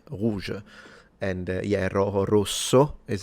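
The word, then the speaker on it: rouge: And interesting as you see ro in theory is the same but because there is a u it's red rouj and yeah ro is how we say it.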